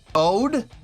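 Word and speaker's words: O.de: the one on synth, Ode, I guess, yeah, pronounced like the English word ode, okay, who will be on the right, so you can see why each are considered to be different.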